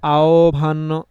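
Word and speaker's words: আহ্বান: এখানে হসন্তটা দেওয়া ক্লিয়ার তো আভান এরকম আমরা আওভান মানে আওভান এরকম করে বলি আমরা আওভান বলি মানে ওটা যেটা পুরোপুরি উচ্চারণ হওয়ার কথা সেটাকে না করে একটু কমিয়ে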